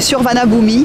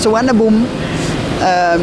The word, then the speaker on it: Suvarnabhumi: Ça s'écrit Suvarnabhumi, mais ça se prononce Suvarnabhumi.